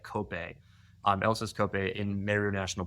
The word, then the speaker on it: Kopje: Kenya called Elsa's it's it looks like it's pronounced Kopje, but it's like Kope.